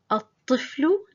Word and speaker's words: الطفل: الطفل يلعب في الحديقة. الطفل, we don't pronounce the lam, we drop it.